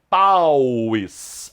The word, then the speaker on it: pauis: O plural de Paul, então, pauis. Assim é que se pronuncia. Pauis. Não há acento agudo, não é pauis. Se fosse pauis, teria acento agudo no i.